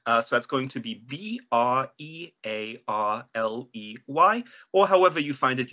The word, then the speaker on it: Brearley: It is a Joseph Brearley. Joseph what, sorry? Brearley. So that's going to be B-R-E-A-R-L-E-Y, or however you find it useful to spell Brearley, so you can remember how it's pronounced.